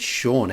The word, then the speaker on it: Sean: remember seeing his name it was s-e-a-n and i was like how do you get shawn out of that i was like scene